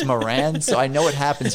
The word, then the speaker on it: Moran: So we decided on it being the Morons because my last name is Moran. And then everyone thinks it's pronounced moron my entire life.